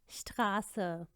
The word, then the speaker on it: Straße: इसको हम हमेशा स प्रोनाउंस करते हैं। Straße, Straße, schließen, schließen, süß, süß।